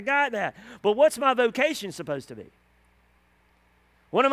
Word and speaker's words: vocatio: But what's my vocation supposed to be? What am I supposed to be doing? What vocation? The word vocation is a Latin word pronounced vocatio.